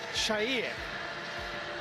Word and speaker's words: Chair: tell you is Ilas Chair. We are given by FIFA a video of all 832 players at this World Cup pronouncing their names. He says it sher and that's what we'll be calling him.